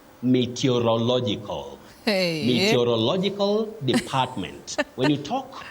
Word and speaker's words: meteorological: prediction of the weather, you don't say meteorological department. Meteorological department, not about weather. So, the word is right here. You say meteorological.